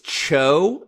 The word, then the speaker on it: TCHO: yeah it's true it's Joe like the chi is silent yeah Joe it's Cho is that's like a Cambodian pronunciation or something